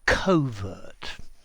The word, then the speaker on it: covert: meaning hidden or secret I think I would normally say covert um but some people say cover yeah and you